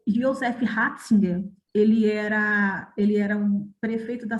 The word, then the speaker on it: Ratzinger: o Papa Francisco aqui como é que é a pronúncia do nome dele? Ratzenberger? Ratzinger, Ratzinger. Joseph Ratzinger.